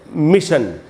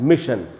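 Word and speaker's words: mission: जैसे ये वर्ड है मिशन तो इसमें डबल एस मिस है रूट वर्ड तो उसके बाद एस एस आई का जो कॉम्बिनेशन है तो यहां जो ये जो एस है इससे श बन रहा है मिशन वही एग्जांपल यहां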